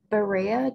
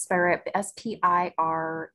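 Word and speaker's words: Spiraea: And our final question here is from Jill, if I'm pronouncing this correctly. Is Borrea japonica considered invasive or aggressive? My foundation plantings did reproduce a bit, which I cleaned up. And it's Spirea, Spirea, okay.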